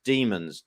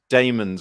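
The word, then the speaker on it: Dæmons: and the bond is an asterisk at the bottom says pronounced demons d double e m o n s that's right so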